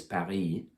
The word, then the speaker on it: Paris: French word for Paris Paris it's got the S on the end but you don't say it but sometimes when they